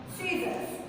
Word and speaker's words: scissors: Scissors. Now, in this word, first S is silent.